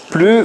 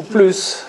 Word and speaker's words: plus: Mais en français, on est obligé de dire plus ou plus et ça veut pas ça veut dire exactement le contraire.